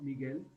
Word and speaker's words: Miguel: Miguel. Miguel. Okay. G plus U is go, Miguel.